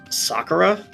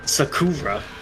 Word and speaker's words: Sakura: about something like uh Sakura it's still that pronunciation it's not sakurra that guy's already dead